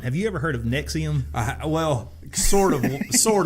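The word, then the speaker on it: NXIVM: saw in multiple articles it is pronounced nexium just like the antacid piggybacking on in a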